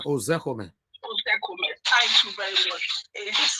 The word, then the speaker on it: Ozekome: Can you help me pronounce that name, please? Mike Ozekome. Ozekome.